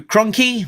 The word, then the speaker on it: Krunke: writer Larry Hama, artist Andrew Krunke, rhymes with donkey, colorist Francesco Segala with